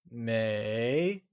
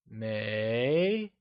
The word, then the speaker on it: 没: May is pronounced using a mid-rising tone. Can you try and say may? It is said with a mid-rising tone, like may.